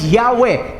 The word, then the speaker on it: Yahweh: Pero kung babasahin mo yon, alisin mo yung vowels, that is Yahweh. Everybody say Yahweh.